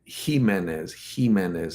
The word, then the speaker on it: Jimenez: But in Spanish, J is silent. So J. I'm sorry, J is a H. I'm sorry, I said that wrong. J isn't J, it's H. Jimenez, not Jimenez.